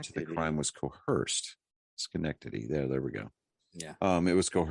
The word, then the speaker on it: Schenectady: Yeah, Schenectady.